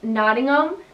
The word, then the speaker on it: Nottingham: in england it's warwick same with nottingham and buckingham and birmingham the ham at the end americans we would pronounce it as ham h.a.m but in england they pronounced as um so you don't say ham you say bucking um if that makes sense